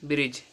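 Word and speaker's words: bridge: silent रहेगा जी से पहले आया हुआ डी साइलेंट रहता है तो क्या होगा बी आर आई डी जी ई ब्रिज एफ आर आई डी जी ई फ्रिज यहां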